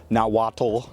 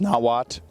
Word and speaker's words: Nahuatl: It's a Nahuatl word, so it's not Nahuatl, it's Nahuatl. And I think you're supposed to do a little ch at the end of it, so atlatl.